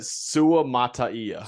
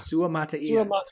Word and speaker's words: Sua Mataia: All right, Max, we need the pronunciation because I couldn't find one. It's Sua Mataia. Sua Mataia.